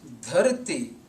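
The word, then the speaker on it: ਧਰਤਿ: In transliteration available on the net and in many books, this word is spelled without the vowel sound at the end, and this is embarrassing.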